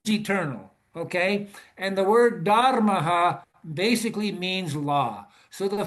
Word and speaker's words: Dharma: I can say Dharma just like everybody else, but the true Sanskrit pronunciation is Dharma. So, at any rate, the meaning of Dharma is the eternal laws of the universe.